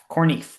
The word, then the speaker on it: Koornneef: And this is spelled really funny. It's Koornneef, Corneef.